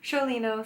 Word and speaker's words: Sciolino: made Paris by Elaine Sholay no I did have to ask her how to say her name but it was Elaine Shirley no said the Italian way of the Sicilian way I believe so let's